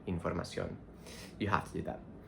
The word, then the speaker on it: información: Even though in English we say information, we stress the third syllable, we have to stress the O in información, not información like information, información.